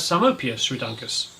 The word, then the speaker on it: Psalmopoeus reduncus: Psalmopoeus reduncus, which is the region's arboreal spider, and like all arboreals, the devil to find. You'll also find it pronounced as Psalmopius ruduncus. Sphaerobophria hoffmanni, a fascinating tarantula